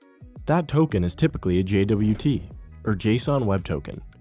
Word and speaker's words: JWT: That token is typically a JWT, or JSON Web Token, pronounced JWT, which is a signed object that bundles audience, expiration, and granted scopes.